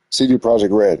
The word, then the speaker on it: CD Projekt Red: CD Projekt Red.